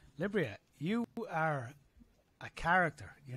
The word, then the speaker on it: Libryia: stumbled through it but you said it right it's liberia so libria you are a character